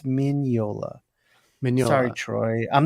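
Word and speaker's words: Mignola: friendly with Mike uh corrected me on my pronunciation after the show I got a text Sean it's minola sorry Troy I'm not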